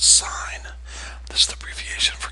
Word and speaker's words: sin: Now, notice the abbreviation for sine looks like sin. It's pronounced sine.